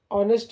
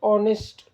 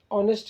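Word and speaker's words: honest: original sound दे रहा ऑनेस्ट ऑनेस्ट में हम नेस्ट नहीं पढ़ रहे इसका सही तरीका है ऑनेस्ट ऑनेस्ट यानी ईमानदार ओ से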